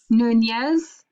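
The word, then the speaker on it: Núñez: no don't give up come on be brave nunez that's right you're just not trusting yourself you're smarter than you're giving yourself credit for okay the journey of alvaro nunez cabeza de vaca it's a long name we're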